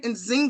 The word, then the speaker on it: Nzinga: me get started here with inzinga am I pronouncing your name right inzinga yes ma'am inzinga the beautiful inzinga who plays